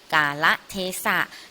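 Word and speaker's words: กาลเทศะ: กัน ดี กว่า ค่ะ กา ละ เทศะ คำ นี้ อ่าน ว่า กาละเทศะ หมาย ถึง เวลา และ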